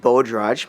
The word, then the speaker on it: Bhojraj: asked the most is how do you pronounce my last name and it's pronounced bodr most people call me